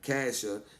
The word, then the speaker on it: Casher: See, I said it right, huh? Casher.